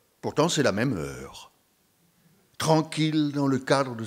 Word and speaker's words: heure: Le U dans l'heure ne s'entend pas étant noyé dans le. Heure, c'est E deux fois, au commencement puis à la fin.